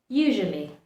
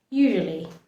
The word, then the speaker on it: usually: Usually. So we pronounce the U, the first U, double S, we pronounce that like a Z, S and Z, mixture of it.